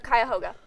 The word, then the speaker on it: Cuyahoga: don't think about it, I'll be like, oh yes, Chicago Falls instead of Cuyahoga.